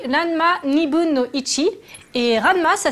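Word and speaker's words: らんま½: Ranma 1,5, ça se dit Ranma Nibun no Ichi.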